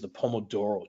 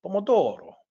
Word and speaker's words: Pomodoro: maybe it's pronounced like Pomodoro kind of exaggerating the Italian accent there but you get the